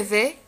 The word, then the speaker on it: vais: Le verbe aller au présent je vais, لاحظتوا ديك اسم ما كتنطقش je vais, tu vas, il va, elle va, on va, nous allons, vous allez, ils vont ou elles vont.